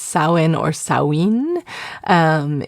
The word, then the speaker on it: Samhain: but pronounced Sin or Sawin. Um it is an ancient Irish kind of Celtic word and so um meaning the end of summer.